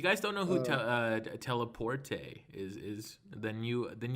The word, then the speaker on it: Telepurte: butcher your name constantly i've always pronounced this as telepath turtle well uh there's really no wrong way to pronounce it but usually i hear it either as just telly or teleport teleport is that how you is that how you pronounce it yeah that's that's how i pronounce it teleport i thought it like